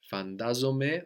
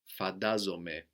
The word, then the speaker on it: φαντάζομαι: And φαντάζομαι, φαντάζεσαι, is spelled NT. No, so this gives us either ND or D, depending on the dialect of Greek or the age of the person. D is used much more by younger people. So, we could hear fantazome or fadazome, but not a T sound, even though we have NT written there.